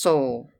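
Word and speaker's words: Seoul: place asked Mr hemster it is spelled s e o u l and is pronounced Soul how far is it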